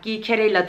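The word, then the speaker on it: Geekerella: O da Gicherella. Gicherella diye okunuyormuş.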